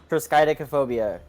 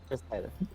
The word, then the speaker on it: triskaidekaphobia: So, Yes, it's triskaidekaphobia. It's like now I'm questioning that last syllable I put in No, before no, I phobia, think but it's you're right.